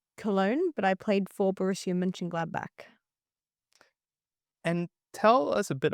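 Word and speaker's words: Borussia Mönchengladbach: I lived in Cologne, but I played for Borussia Mönchengladnach.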